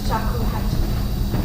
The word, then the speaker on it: shakuhachi: All right, so I'll just pronounce the name of my shakuhachi the way we say it, which is shakuhachi.